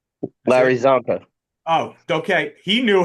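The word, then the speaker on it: Csonka: Is it Ronnie Brown, Raheem Mostert, Ricky Williams, or Larry Sakanka? That's Larry it. Zonka.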